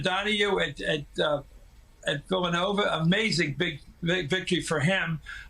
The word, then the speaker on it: Villanova: American from Chicago, from Villanova, as we say in Philadelphia with an accent on the O.